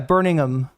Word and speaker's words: Birmingham: The ham is it really not pronounced or is it just pronounced like is it like is it like minimized? Yeah, Burningham.